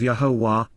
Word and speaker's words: Yahowah: stand present, Amod, before, Al-Yahowah, Yahowah, the proper pronunciation of Yahowah, our Eloah, God as directed in his Torah,